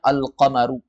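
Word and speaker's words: القمر: Kemudian yang kedua ada alif lam qamariah yaitu alif lam yang di dalam tulisan ada alnya tapi ketika Dibaca juga ada contohnya alqamaru alqamaru dan di dalam addarsal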